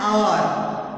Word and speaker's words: hour: And hour. We won't say hour. It is hour. It starts with the O.